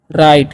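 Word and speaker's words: write: और डब्ल्यू आर आई टी ई है। तो यहां पर भी आई का वचन आई ही होता है। तो इसे हम पढ़ते हैं राइट।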